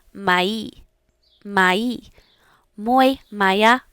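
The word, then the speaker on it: моя: If you have a female noun, you are going to say maya.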